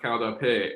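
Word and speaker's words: qaug dab peg: And it's pronounced kaudape.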